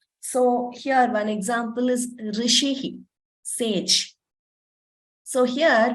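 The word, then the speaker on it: ऋषि: Rishi Sage so here when you say Rishi it is neither Rishi heat is not e nor is it so that is there is a tendency to you know interchange or mispronounce this it is and it is neither e nor okay so please note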